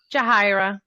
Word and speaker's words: Yahira: Am I pronouncing your name right? Yahira. Yahira.